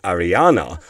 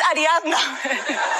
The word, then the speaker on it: Ariadna: Having said that, Ariadna called out Steve for mispronouncing her name as Ariana on his TV show. You keep you keep making mistakes. It's not Ariana, it's Ariadna.